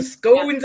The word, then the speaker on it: scone: SC just so like do a short o like SC like it's gone but like without the it scone scone yeah SC Not that bit scone scone scone yeah say it's gone it's gone gone also glams me and